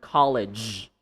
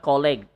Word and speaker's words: college: For example, the word college. College. It's a voiced sound. College. College. I went to college. College. Not colleague. Okay? Do not say colleague.